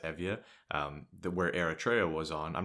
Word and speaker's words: Euboea: It looks like Euboea, but it's actually pronounced Evia, where Eritrea was on.